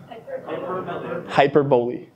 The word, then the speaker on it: hyperbole: Hyperbole. Okay, thank you. I didn't know how to pronounce it.